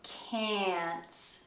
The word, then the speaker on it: can't: is the word can't in america you say can't can't can't so you have to be very careful with this word if you mispronounce it it can sound like a very naughty word okay so um